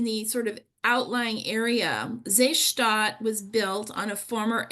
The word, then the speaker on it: Seestadt: to look it up, it's spelled Seestadt, Seestadt, or we would say Seestadt, Aspern, Aspern.